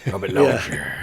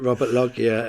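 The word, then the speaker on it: Robert Loggia: Robert Loier. He just falls asleep, doesn't he? I think I didn't even I thought I think I pronounced it Robert Logia until I I saw that.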